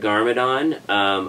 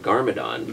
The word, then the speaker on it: Garmadon: Lord Garmadon, originally we named him Lord Demic, because it sounded kind of evil.